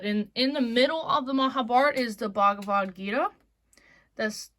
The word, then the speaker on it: Mahabharata: But the best audiobook I've honestly heard is the Mahabharata, like the Mahabharata. So I guess that's how the Indians pronounce it, is a Mahabharata, but usually they say Mahabharat.